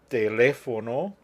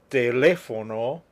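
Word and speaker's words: teléfono: accent bruhula SE masphoto telefono rapido you can remember that rule or not it really is important to me that you remember the stress is where the written accent appears let's go over them again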